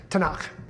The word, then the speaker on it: Tanakh: tnk tanak so it's an abbreviation that they pronounce tanakh the torah the t is the first five